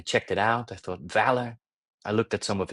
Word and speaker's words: VALR: So Valor, you know, as it's pronounced, it really stands for courage.